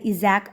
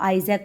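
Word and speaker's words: Isaac: इजैक असीमोव है, जो मतलब इसको आइजैक बोलो या आइजैक बोलो, ठीक है. प्रोनाउंसिएशन नेम की थोड़ा सा डिफरेंट हो सकता है, हर किसी का अलग अलग होता है, ठीक है.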